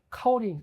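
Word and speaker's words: 高岭: 어이 고령이 중고 발음으로 카오링 까오링이거든요.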